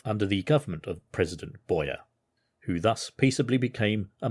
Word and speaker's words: Boyer: So, as I said, Jean-Pierre Boyer, I think the French pronunciation is Boyer. I could go in Boyer, but it's Boyer.